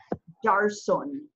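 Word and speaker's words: دَرْسٌ: You can pronounce dal, ra, and sin as a verb, and it would be darasa, darasa. But if you put, if you want to pronounce it as a noun, you have nation on the end. It's pronounced darsun, darsun.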